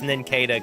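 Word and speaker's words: Nincada: I think it's pronounced ninkada cuz it's supposed to be cicada.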